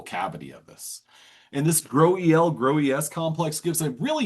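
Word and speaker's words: GroEL: I pronounce it Joel, I would read this as a graduate student. No, Grohl. Not the case. That's not the case. It's called GRO-EL or GRO-EL, GRO-ES.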